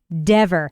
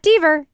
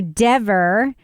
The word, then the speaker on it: Dever: Kelly Dever. Not Deaver. Kelly Dever. Really upset when Jackson would mispronounce her name, even though I guarantee she